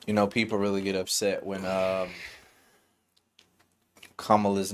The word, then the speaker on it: Kamala: People really get upset when Kamala's name is pronounced the wrong way.